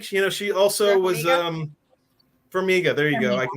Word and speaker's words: Farmiga: Farmiga. There you go. I can never remember how to pronounce the last name.